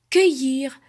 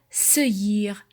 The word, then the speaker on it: cueillir: On ajoute la lettre U après C ou G pour ne pas prononcer S ou je. Exemple, cueillir. Je mets le U devant le E pour ne pas dire seuillir.